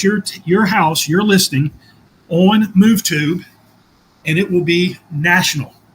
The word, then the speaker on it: MoveTube: MoveTube, like YouTube, but MoveTube. That is correct.